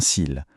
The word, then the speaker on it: cil: La prononciation est exactement la même. Des cils. C'est le contexte ou l'article qui fait la différence.